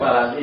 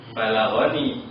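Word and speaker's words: بلغني: Sehingga dibacanya balaghani, enggak balaghi gitu.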